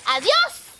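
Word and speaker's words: adiós: Amigos oh um Johnny in Spanish the letter a is pronounced a that's the rule you say adios Amigo you're right adios and gracias yeah what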